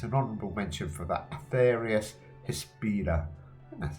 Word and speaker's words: Atheris Hispida: Not a bad life on lands card, probably better cards out there, but as I said, it's an honourable mention for that Atheris Hispida.